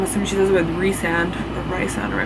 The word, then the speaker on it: Rhysand: Like, he seems normal, and right now Rhysand, I always say Rhysand, but in the Bible it says to pronounce it as Rhysand, is like the one